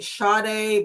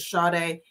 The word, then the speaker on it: Sade: Her name is, they say Sade, but some people pronounce it Sade. I'm pronouncing it Sade, but they pronounced it a different way in the news videos.